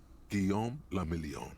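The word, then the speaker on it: Guillaume Le Million: meant only one thing Gom lilon if it doesn't rhyme you're not pronouncing it right out of the dazzling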